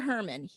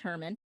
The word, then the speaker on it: Heerman: This film was directed by Victor Herman, which is spelled Heerman, but it's pronounced Herman.